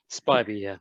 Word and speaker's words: Spiby: that how you pronounce it? Spiby, yeah.